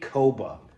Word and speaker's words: Kpogba: in the middle or the P and the G, I should say, are silent. It's pronounced Lee Koba.